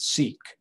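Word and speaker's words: SEEC: engaged engineering and computing we pronounce it seek and you'll see that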